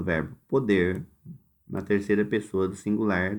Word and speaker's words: pode: O primeiro é pôde, o O é fechado, e o segundo é pode.